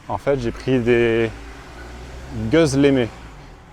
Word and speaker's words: gözleme: En fait, j'ai pris des gözleme. Le O tréma se prononce E, un peu comme œuf en français.